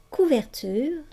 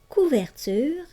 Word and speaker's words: couverture: Pour la graphie UR dans couverture, je sais que le E muet en fin de mot fait prononcer la consonne qui est placée avant le E. Ici, dans le mot couverture, tu entends bien la consonne R.